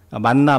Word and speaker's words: 만: 하면서 만나 만나 만나 만나 하다가이 이름이 만나가 되었습니다. 정확한 발음은 만거든요. 만.